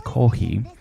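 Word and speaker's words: コーヒー: Coffee is pronounced in Japanese kohi, but if you see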